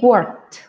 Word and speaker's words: worked: un poco particular, porque cuando tenemos esta ed vamos a tener o hacer un sonido como la t. He worked, right? Different from work, que termina en k. The sound is a little bit different.